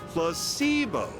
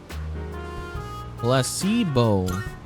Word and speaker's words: placebo: to our vocabulary today repeat after me Placebo H the stress is on the middle syllable Placebo very good you're figing interest